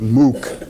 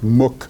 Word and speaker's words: Mook: And he was very, very upset and told her that she and Robbie Mook, as you pronounce his name, I always pronounce it Mook, but it's Mook, I believe, and John Podesta, who